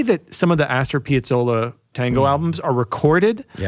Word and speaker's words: Piazzolla: How do you say it? I thought it was Piazzolli. Piazzolla. Piazzolla. The A on the end. Do you say you pronounce A's and Z's? Say it A.